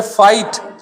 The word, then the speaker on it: fight: Through, इसको आप पढ़ोगे फाइट। तो जीएच को तो हमने बोला ही नहीं, FIGHT का साउंड क्या होता है? फाइट। तो जीएच को हम बोल रहे हैं क्या? नहीं बोल रहे, जीएच साइलेंट हो गया।